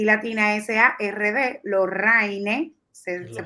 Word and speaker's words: Lorraine: son LORRA y latina y latina SARD, Lorraine, se pronuncia, Lorraine RD.